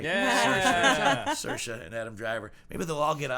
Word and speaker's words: Saoirse: And along with Saoirse. I said it right. Yeah. Saoirse and Adam Driver.